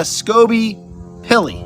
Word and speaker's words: Skobe-Pilley: in the building Maria scoby pilly did I pronounce that right almost perfect yeah hi awesome I apologize